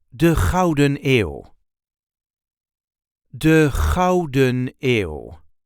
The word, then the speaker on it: de Gouden Eeuw: This is how we say de Gouden Eeuw. De Gouden Eeuw. There isn't really an emphasis on any of these words, just de Gouden Eeuw. De Gouden Eeuw.